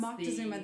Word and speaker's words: Moctezuma: I'm calling him Moctezuma. That's the proper name.